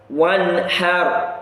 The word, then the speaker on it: وَانْحَرْ: فَصَلِّ لِرَبِّكَ وَانْحَرْ فَصَلِّ لِرَبِّكَ وَانْحَرْ وَانْحَرْ. You can hear the n sound clearly produced before the ha.